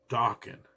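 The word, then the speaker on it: Dokken: in at number nine Dawan rhymes with Rockin and their song Into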